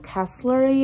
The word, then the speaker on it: Castlery: If that one doesn't work out because they only have one color, then I have to go on the website of Castlery, is how you say it, and they have it.